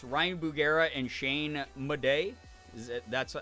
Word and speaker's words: Madej: If you've not seen the YouTube channel Watcher, it's Ryan Bugera and Shane Madej.